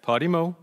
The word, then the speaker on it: Podimo: I am leading the global growth operation at Podimo. That's how you pronounce it.